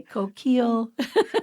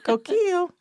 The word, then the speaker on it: Coquille: pronounced Ki K yeah but you don't say the L's and so like my